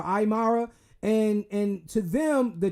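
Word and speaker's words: Aymara: that uh indigenous population they were called the imara I believe that's how you say it is a like aimara or aara and and to them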